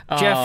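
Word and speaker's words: Geoff: I was confused when you spelled it with a J. Jeff is with a G it's for G-off.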